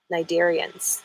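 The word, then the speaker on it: Cnidarians: jellyfish and allies is starts with a C but it's pronounced with an N the first part of the word is n Nigerians thank you you're sharp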